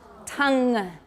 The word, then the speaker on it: tongue: now know is the tongue make sure everyone learns how to say it correctly in english because like i said it gets mixed up with tan and tone which are totally different so tongue is like